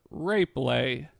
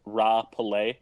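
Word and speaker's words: RapeLay: for such titles as rape lay oh yeah that's unfortunate that's an unfortunate game that's that's supposed to be pronounced raw pelay yeah come on it's Japanese yeah that's not the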